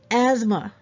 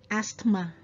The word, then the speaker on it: asthma: and t it didn't didn't okay great it's asthma asthma so it's not asthma asthmatic asthma no it's asthma okay cool okay